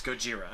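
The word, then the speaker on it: ゴジラ: So in English it's Godzilla, in Japanese it's Gojira.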